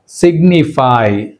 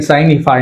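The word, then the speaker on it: signify: అంతేకాకుండా సిగ్నిఫై, సిగ్నిఫై, అంతేగాని సైనిఫై అనకూడదు, సిగ్నిఫై, సిగ్నేచర్, సిగ్నేచర్ అంటే జీని ప్రొనౌన్స్ చేస్తున్నాం మనం.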